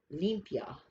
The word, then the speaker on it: limpia: say it if you're going to pronounce it pronounce it limpia olympia okay and it comes from mexico and